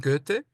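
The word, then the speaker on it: Goethe: el mismo, se pronuncia en alemán, get. Ajá. Get, si le dicen get está perfecto.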